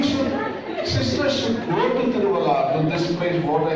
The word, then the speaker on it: Tiruvalla: I want to take you to Tiruvalla. Am I pronouncing okay in Kerala? Tiruvalla? Tiruvalla, okay.